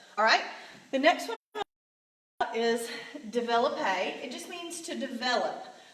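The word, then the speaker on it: développé: our English words develop we're just gonna put an extra P and then the e with the accent so we have that a sound at the end develop a and I did that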